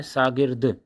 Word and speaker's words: शागिर्द: शागिर्द, शागिर्द उच्चारण देखिए क्या है? शागिर्द। तो ये शागिर्द होगा।